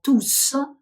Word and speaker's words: tous: зараз буду це розказувати Отже перший випадок коли літера е в кінці слова тус вимовляється один єдиний і дуже важливий